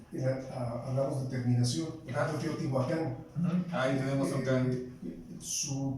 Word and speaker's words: Teotihuacán: Por ejemplo, siempre cuando se habla hablamos de terminación, por ejemplo, Teotihuacán. Ahí tenemos un can. Su pronunciación, ¿cómo sería? Teotihuacán.